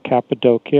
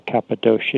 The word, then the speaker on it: Cappadocia: huge underground complexes in the cappadocia or cappadocia you can pronounce it either way a region of anatolia